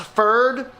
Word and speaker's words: PFERD: I think it's pronounced FERD.